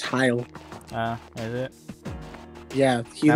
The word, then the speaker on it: Heil: Well, it's literally pronounced heil.